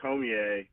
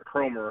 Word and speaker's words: Cormier: picked it up with Matt Cormier, or Cromer, however you want to pronounce it, depending on where you're from.